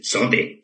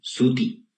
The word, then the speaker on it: suti: Y me dijo, sí, porque tú dices sote, sote. ¿Y por qué no dices suti? ¿No es suti?